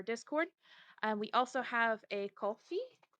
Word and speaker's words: Ko-fi: We also have a Ko-fi. How do you say that word? Like coffee. Kofi.